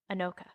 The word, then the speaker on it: Anoka: website for anoka and i looked up how to spell like how to say this so i know this is right anoka i heard it there is a halloween